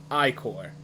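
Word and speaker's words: ichor: could fill it with magical icker that's pronounced i-core well shows me raw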